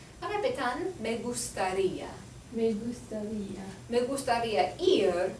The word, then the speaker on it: gustaría: And because the I in gustaría has an accent over it, that's where we place most of the emphasis on that particular syllable. Repitan, me gustaría.